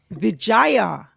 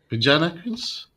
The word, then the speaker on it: Vijana Queens: Vijaya. But it's Yeah, got an N in it. Vijana Queens.